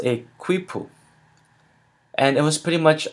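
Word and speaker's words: quipu: their method of counting and keeping record it's pronounced a quoo and it was pretty much a bunch of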